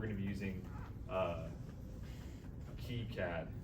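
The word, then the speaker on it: KiCad: to be using uh key CAD I think is how you say it that's right yeah yeah um and also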